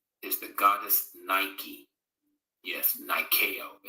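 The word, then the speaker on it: Νίκη: the goddess Nike yes Niko is the way it's pronounced in Greek it's the swish symbol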